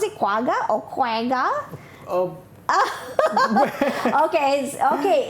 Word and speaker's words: quagga: quagga are you sure that's the how you pronounce it quagga or quenga okay okay it's correct about shortness